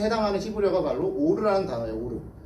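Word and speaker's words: אור: 오르. 발음이 오르예요.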